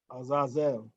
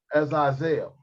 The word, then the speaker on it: Azazel: Azazel. Azazel.